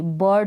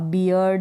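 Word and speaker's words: bird: इस तरफ बी और इस तरफ डी है, तो इस आई आर का उच्चारण आप अ करेंगे। बर्ड हो गया, अब बियर्ड या फिर बायर्ड ऐसे नहीं करेंगे।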